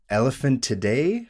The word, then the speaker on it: Elephantidae: And both involve members of the Elephantidae family.